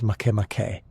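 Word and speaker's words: Makemake: The name is pronounced Make, a gentle rhythm that fits the world's serene nature.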